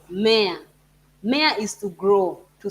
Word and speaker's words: mmea: You need to slow the M because it has two M's, which you need to pronounce.